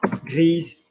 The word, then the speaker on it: grise: Grise, I'm going to pronounce it because there is an E after it.